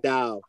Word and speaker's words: Dao: much i'm chinese um they pronounce that like the towel it's actually dao the dao yeah it's like the